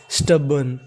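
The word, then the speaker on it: stubborn: और आपको इसमें याद रखना है कि आर का उच्चारण नहीं करना, इस मीनिंग में हमारा आर साइलेंट रहता है।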